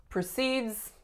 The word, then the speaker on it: proceeds: for precedes he just proceeds in this general direction regardless of what guidance he gets so continues on in proceeds would be our noun so the strongest syllable would be the first the sound would be